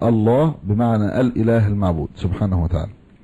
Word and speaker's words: الله: والصحيح أنه مشتق، هذا أصح أقوال أهل العلم، من الإله، فالله هو الإله المعبود، وأصله إله وحذفت الهمزة تسهيلا، فالنطق الله بمعنى الإله المعبود سبحانه وتعالى.